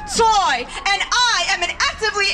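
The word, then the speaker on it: Tsui: name is alice toy that's t-s-u-i pronounced toy and i am an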